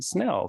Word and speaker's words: Snell: current managing partner of Main Street Law, Snell.